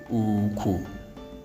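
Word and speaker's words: ùkwù: So we expect that the word is pronounced this way. Uku.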